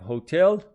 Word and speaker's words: hotel: And the pronunciation of hotel with the stress on the second syllable, hotel.